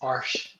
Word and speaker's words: Arches: Is it like Arche? It's close. It's Arche. Arche.